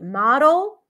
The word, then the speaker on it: model: The only difference is E versus A, but these are two different words pronounced differently. Model.